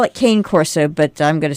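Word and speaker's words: Cane Corso: I have an eight-year-old is it Cana Corso uh Kane Corso Kane Corso huh well that's how I've heard it pronounced is it Italian I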